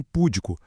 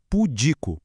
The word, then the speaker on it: pudico: Acontece a mesma coisinha com púdico, quando na verdade é pudico, percebe? Nos dois casos, a força tem que ir para a penúltima sílaba.